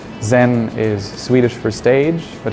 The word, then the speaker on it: Scen: but also the name zen is swedish for stage but it's pronounced like the japanese zen so it's an infinite